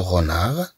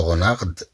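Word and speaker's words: renard: اذا طبعا بدون ان ننطق هاد لو غونار لنقول لو غونارد لو غونار لو غونار يعني الثعلب لو كانار لو كانار نتكلم عن الإوز أو البط لو كانار.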